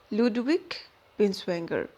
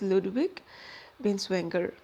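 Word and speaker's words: Ludwig Binswanger: i was actually wrong the original pronunciation from my side was actually wrong so the pronunciation is ludwig vinswenger next another notable figure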